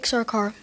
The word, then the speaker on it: Sarkar: So that we all pronounce his name correctly, I'm going to have him say it. Vivek Sarkar.